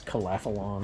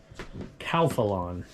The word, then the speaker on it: Calphalon: exactly a necessity but it's calafalon is that how you pronounce that that's how I've always said it Calphalon Calphalon I've always said it wrong there you go and